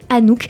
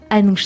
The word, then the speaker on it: Anouch: prononce alors à nous j'avais un doute parce que ça se prononce aussi Anouk mais donc ce sera Anouch sur l'antenne de radiologie